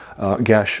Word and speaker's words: geas: word is Geas, G-E-A-S, but it's actually an Irish word. It means the word is guess. Gesh, it should be pronounced G-E-S-H, not G-E-A-S.